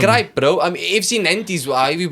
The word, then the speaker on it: Nantes: I mean, FC Nantes, however you pronounce it, they should not No, be it's Nantes.